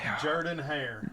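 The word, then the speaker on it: Jordan-Hare: central time it's at Jordan hor hairir Jordan hair okay so I was pronouncing the wrong one incorrectly okay Jordan put the empasis on the wrong Jordan hair Stadium which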